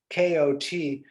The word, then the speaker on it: kot: is polish for cat i think it's pronounced somewhere between coat and cot and i don't i